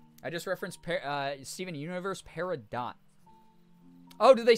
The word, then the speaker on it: Peridot: See, I thought it was French. So T's at the ends of words in a lot of French words are silent.